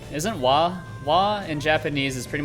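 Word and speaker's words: は: is wo used for i know there's wah that's that's a good one because uh that's your pretty important grammar particle why written as ha for whatever reason gotta love it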